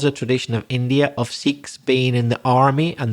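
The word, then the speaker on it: Sikh: in India there's also another very important religion sik that's spelled s i k h the siks are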